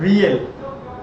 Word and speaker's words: riel: Burundi गिगिता, Cambodia Phnom Penh रियल। Cambodia की राजधानी कहाँ है? नोमपेन, और रियल यहाँ की करेंसी है, लेकिन स्पेलिंग आप देखो RIEL है।